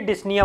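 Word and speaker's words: dyspnea: यस yes breathlessness, डिस्निया हो जाएगा, डिस्पिनिया। यस याद रखने के लिए डिस्निया बोलते हैं इसको, आ रहा समझ में? पी साइलेंट है।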